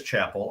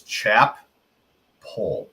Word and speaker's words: Chappell: First of all, it is Chappell. I am looking at the PGA Tour's media guide. They actually have a pronunciation right there next to his name as Chap Pole with the emphasis on Chap.